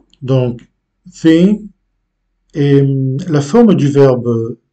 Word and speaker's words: vêm: C'est une façon plus courte de prononcer ce verbe. Au lieu de vêm. Donc, on accentue le deuxième E d'une façon assez légère. Donc, le premier, oui, mais le deuxième peut-être d'une façon presque imperceptible. Vêm.